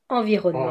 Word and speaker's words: Environnement: And Bretagne séchée, Environnement.